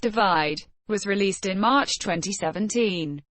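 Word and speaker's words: ÷: and best pop solo performance sheeran's third album pronounced divide was released in march 2017 and was the best-selling album worldwide of 2017.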